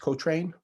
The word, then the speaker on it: Cochrane: you ever read the cochrane library c-o-c-h-r-a-n-e pronounced co-train cochrane library uh probably